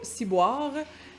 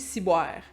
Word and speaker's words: ciboire: Bien entendu, on ne prononce pas ciboire. Le wa, le son wa en québécois a tendance à devenir ouais. Comme noir, il fait noir, il fait noir. Fait qu'on dit ciboire.